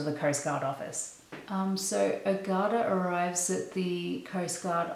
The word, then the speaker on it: Ogata: I mentioned city names, character names, so apologies in advance if I mispronounce anything. Because I'm about to introduce two of the main characters. Ogata, O-G-A-T-A, Ogata, and his fiancée Emiko.